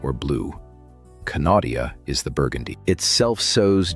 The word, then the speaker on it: Knautia: It is the plant almost nobody pronounces correctly on first encounter. The first time I read the name on a nursery tag, I called it nautica, like the clothing brand.